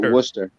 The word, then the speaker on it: Worcester: We pronounce it Worcester.